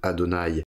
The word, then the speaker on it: Adonaï: fait l'idée c'est que comme ce tetragramme on va le prononcer Adonaï et que le mot